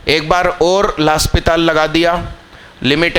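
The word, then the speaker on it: L'Hôpital: लास्पिताल rule लगा दीजिए, मैं सही नाम बोल रहा हूँ, इसका सही प्रोनाउंसिएशन यही है।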